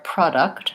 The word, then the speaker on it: product: So that one is really like product. So two cases where the first syllable pro is stressed. It can either say pro or pra.